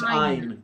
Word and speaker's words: Ayn: Ayn or Anne Rand. Oh, I believe it's Ayn.